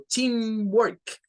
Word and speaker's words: teamwork: Entonces, esto lo vamos a pronunciar como teamwork, teamwork. Notando que lo de team es la sílaba tónica, la que se hará con un poco de más fuerza.